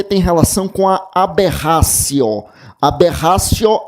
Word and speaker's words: aberratio: Aberratio é o erro. Aberratio se escreve com T, é aberratio.